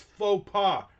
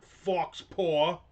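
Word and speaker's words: faux pas: It's faux pa, not fox paw."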